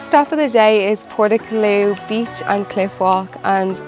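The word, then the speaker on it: Portacloy: The cliff walk is 18 kilometers long and it's actually called Portaclough. I did pronounce it wrong in that original clip.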